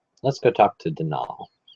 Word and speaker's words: Donal: let's go talk to denal not Donald mind you there's no D at the end it's denol which is the right way to spell it which is to say that's the way the Irish spell it maybe I'll call Allan